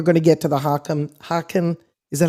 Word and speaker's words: Haken: Because I noticed there's different brands of theremins, and then we're going to get to the Haken, is that how you say it? Haken Continuum?